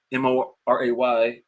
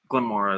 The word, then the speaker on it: Moray: the glenmora and uh m-o-r-a-y some people probably say Moray but if you're being technical glenmora is what you want to call it the a the Y is silent put it that way